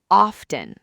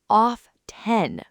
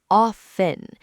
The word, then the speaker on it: often: They say off-ten with a clear T sound. And when you do that, native speakers just kind of wince inside. The correct pronunciation is often. The T is completely silent.